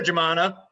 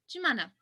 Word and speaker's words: Jumana: How would I pronounce it? Jumana. Jemana. Is that better? Yeah, actually. Jumana is fine, though.